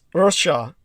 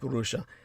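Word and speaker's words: רשע: It's known as Rasha in the more proper Hebrew. The proper Hebraic calls it Rasha. The Americans at the Department of Defense always added a syllable in there simply so they could pronounce it, and it came out somewhat like Rusha.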